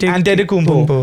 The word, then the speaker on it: Antetokounmpo: How like is it pronounced? And isn't it Antetokounmpo? Yeah, I thought it was anti something. It's Antetokounmpo.